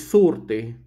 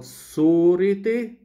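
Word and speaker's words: صورتي: And also, the shortening of the long vowel before double consonants, rt.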